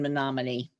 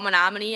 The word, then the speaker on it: Menominee: That's really funny that you say that because I think still to this day when I type out Menominee, I say it me no money.